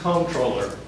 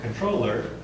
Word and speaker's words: comptroller: It would probably come from your firm's comptroller. Actually, it's pronounced controller.